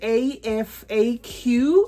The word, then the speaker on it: Afaq: It is spelled A-F-A-Q, okay? So I'm deliberately calling it Afaq just because if I put the Q there, you know what it's going to sound like.